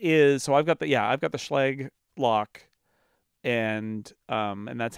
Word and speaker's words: Schlage: I've got the Schlage lock. And that's how they pronounce it, even though as a German student, I really want to call it Schlage, but it's not a Schlage because it's Americans.